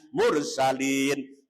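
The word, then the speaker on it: المرسلين: berhenti karena mandeg dimatikan hukumnya namanya Mad Arid disebut Allah sebelum akhir ada huruf mad berupaya atau bau atau Alif di sini ada berupaya panjangnya 1 sampai 32 sampai 6 harokat cara bacanya mursalin surat Yasin ayat yang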